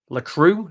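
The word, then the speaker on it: Lacroix: Lacru. Is that how it's pronounced?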